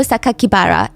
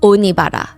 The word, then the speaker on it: Sakakibara: The press read the kanji, so the Japanese characters for Saito Sakakibara, and instead of pronouncing the way that he intended, the killer